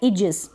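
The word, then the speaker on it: aegis: ए इ को हम बड़ी ई के रूप में पढ़ेंगे। जैसे ये क्या है? इजिस।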